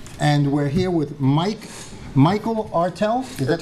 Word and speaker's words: Ertel: Again, I'm here with my co-host, Jose Miranda, and we're here with Michael Ertel. Is that how you pronounce it? Yeah. Ertel?